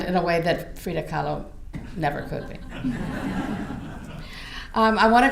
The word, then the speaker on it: Kahlo: Kahlo, yeah.